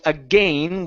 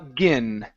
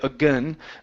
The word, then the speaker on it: again: word right the uh the vowel sound at the end is pronounced like a short I okay so we say a again uhuh again some people call it awah you can say again but it's again more